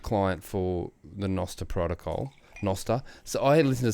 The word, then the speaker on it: Nostr: Damus, the Nostril. Are we talking about Nostril? no, Nostr, yeah. Nostr. So Damus being the Or Nostr, client, Preston. the app client for the Nostr protocol, Nostr.